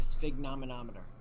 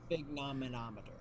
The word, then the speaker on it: sphygmomanometer: The sphygmomanometer. The what? Sphygmomanometer.